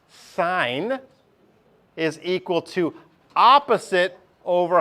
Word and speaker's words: sine: a memory tool okay the sign this is pronounced sign is equal to opposite over hypotenuse have you seen this before sinin not not sin like sin Catholic no no yeah this is